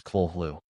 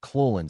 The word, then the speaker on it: Cthulhu: Lovecraft transcribed the pronunciation of Cthulhu as Khlûl-hloo and said, "The first syllable pronounced gutturally and very thickly. The U is about like that in full, and the first syllable is not unlike Khlûl-hloo sound.